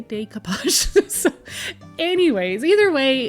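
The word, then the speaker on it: découpage: a few people say why do I say decapage well decapage is a French word and that's how it's pronounced so um I'm in Canada and so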